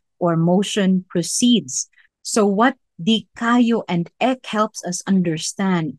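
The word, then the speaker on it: δικαιόω: Kung pangutanon ka, gigutom ka, dikayo, no? That's how you pronounce it, dikayo.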